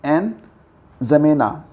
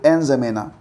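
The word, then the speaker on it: N'Djamena: तो याद रखना कि चाड देश की राजधानी है एन जमेना डी जमेना डी यहां पर साइलेंट है तो एन जमेना ठीक है हाल ही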